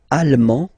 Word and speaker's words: allemand: L'Allemagne, allemand, allemande. Okay, same thing here. En, okay, you don't pronounce the final D, but then you pronounce it here for the feminine form.